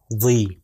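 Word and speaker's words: ضِ: کا تلفظ ہوگا طی، اور زوئیں کے نیچے جو کہ ضا جس کو عربی میں کہتے ہیں اس کے نیچے اگر کسرہ آ جائے تو اس کو کہتے ہیں ضی۔ دیکھیے طی اور ضی،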